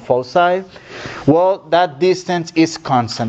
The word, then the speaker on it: foci: these are called follow side not focuses it's pronounced foci well that distance is constant that distance is